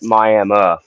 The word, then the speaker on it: Miami: It's spelled like Miami, but they all call it Miami.